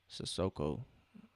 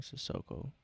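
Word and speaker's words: Cissoko: Sissoko. That's how you pronounce his name, Sissoko.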